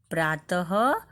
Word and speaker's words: प्रातः: प्रातः शब्द में विसर्ग आता है। जैसे प्रातः, हम क्या बोलते हैं? प्रातः। बाद में ह ध्वनि का उच्चारण होता है।